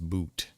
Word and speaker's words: Bout: one but she was exchanged for Victor oot e-o-u-t it's pronounced boot I didn't realize how